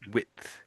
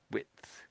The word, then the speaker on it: width: I I suppose that is one syllable. I would say w and I'm very quickly putting the th on the end. Width. Width.